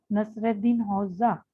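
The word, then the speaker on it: Nasreddin Hoca: The man in the picture, Nasruddin Hoca, pronounced Nasreddin Hoxha.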